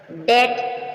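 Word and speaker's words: debt: means मकबरा य एम एम के बाद भी साइलेंट है टम लम लम मीन भीड़ का बच्चा मेमना डेट ट मीस कर्ज य क्या हुआ बी के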